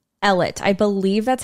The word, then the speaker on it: Ellet: I'm pretty sure it's we're just gonna go with the American English pronunciation uh this was another